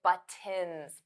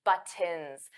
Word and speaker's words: buttons: buttons wasn't clear because native speakers we don't pronounce those t's I don't say buttons buttons that sounds very awkward for me to pronounce I never ever say it like that I always say buttons buttons buttons buttons so those t's become flop T's we don't push out the air now you can